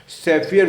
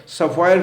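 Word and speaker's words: Sapphire: सैफियर food मैं 2-3 दिन से आपको 4 दफ़े 5 दफ़े दे चुका हूँ, सफ़ायर फूड बोलते हैं उसको, जो भी प्रोनाउंसिएशन है उसका।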